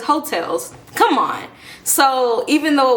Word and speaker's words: Heaux Tales: how to pronounce it I really thought it was Haw tailes I really did there's no I refuse to believe that I'm the only person here that didn't know how to pronounce it it wasn't until like I think it won an award or something or maybe Jasmine herself said it and she said hotels I was like no